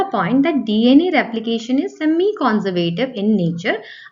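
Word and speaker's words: semi-conservative: तो चलिए समझते हैं पहला point that DNA replication is semi कंजर्वेटिव in nature. आप इसको सेमाई कंजर्वेटिव भी कह सकते हैं फॉर प्रोनाउंसिएशन। सो अब सेमी कंजर्वेटिव यानी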